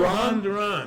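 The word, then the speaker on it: Jhoan Duran: Johan Duran. Johan Duran. It's easy to remember if you It remember is. that it rhymes.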